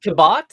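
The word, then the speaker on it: Cabot: talking about C Henry kin yeah is it pronounced kabat yeah oh I I never knew that just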